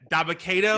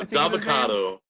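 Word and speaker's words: Dabba-Kato: Yeah, Dabakato. Yeah, Dabakato. like avocado, but Daba.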